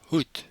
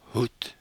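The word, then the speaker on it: hoed: word for hat is hoot again the pronunciation it sounds like a t hoot hoot the plural hats is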